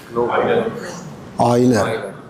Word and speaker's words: Euler: Oiler. Correct. Right. So, Oiler. Why not? O Y E. Yes. So, you have to spell it as Oiler. You have to write it as Euler.